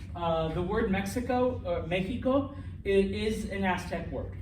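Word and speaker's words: México: there's the prime example it's not mexico it's not mecco i mean you say that in english i think mexico but in espanol what is it mexico in aztec words the x sounds like a j which what does a spanish j sound like nh okay now once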